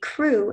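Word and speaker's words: krewe: And the sentence is, the crew is famous for huge floats with national celebrities.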